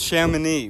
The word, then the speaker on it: Chamonix: It's pronounced Chamonix.